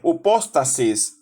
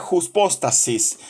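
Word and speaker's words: ὑπόστασις: Otros dicen upóstasis o hipóstasis. Lo pronuncian de diferentes formas. Aquí lo vamos a llamar hypostasis.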